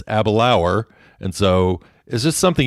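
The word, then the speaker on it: Aberlour: that i stayed in i kept calling it abalore because that's what it looks like to me it's spelled a b e r l o u r and so abelore nope that's not it it's abilauer and so is this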